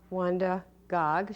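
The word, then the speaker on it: Wanda Gág: her name and she always signed her name wanda gog she wanted to be sure that people pronounce it accurately and she illustrated this very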